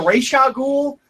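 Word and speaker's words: Ra's al Ghul: I considered changing my pronunciation of Razagul to Reshagul, because that is the correct way to pronounce it.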